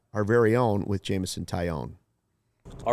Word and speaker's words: Taillon: and we have new Cubs starting pitcher Jameson taione joining us Jameson how's it going today good that was a great pronunciation um I'm just enjoying my first spring